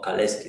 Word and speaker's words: Kalecki: En Polonia aparecía Kalecki, Michał Kalecki, o Kaleski, depende cómo hablan. Si ustedes salen a algún lado, a veces le pronuncian Kaleski, ¿no? Kaleski, Kalecki, ya. Yo voy a llamarle Kalecki.